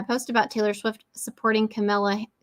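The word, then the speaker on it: Kamala: for liking my post about Taylor Swift supporting camela C camela how do you say her name camela Camala Camala Harris someone actually wrote me a rude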